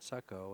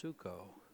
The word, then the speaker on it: Suckow: it hard enough and I think I've been pronouncing J's last name wrong I think I said suck oh and it's suco but my apologies Thank You mr.